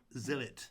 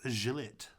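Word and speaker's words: Zhillet: Maybe it looks like it should be pronounced Gillet. That would be wrong. Okay, sorry, it's Zillit.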